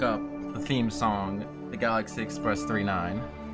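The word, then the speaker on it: Galaxy Express 999: the theme song the Galaxy Express 39 pronounced 39 but spelled 999 funny Title by the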